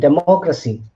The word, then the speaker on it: democracy: So here the stress is on the first syllable in democrat, and here is on second, democracy.